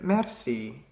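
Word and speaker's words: merci: trying to say so in West flamish you just pronounce it Mercy it's like with the Spanish a so mercy and also the word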